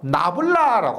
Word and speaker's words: 나블라: 그럼 먼저 벡터의 미분 연산자라고 해서 나블라라고 합니다. 이게 삼각형을 거꾸로 세우는 모양이고요. 그래서 우리가 나블라라고 읽습니다. 나블라.